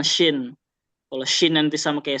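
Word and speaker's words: شين: Jadi nggak sama. Ya, jangan cuma dari tulisannya doang dia beda, tapi pelafalannya juga harus beda. Sin dengan shin.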